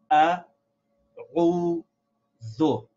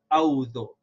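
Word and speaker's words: أعوذ: we should realize that this is three syllables ah whoa though many times when we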